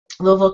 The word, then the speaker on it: Louisville: Louisville those are where my ancestors all settled Louisville Kentucky Louisville if you don't know how to